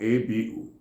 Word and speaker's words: abu: If you hear A-V-U or A-B-U, they are the same thing.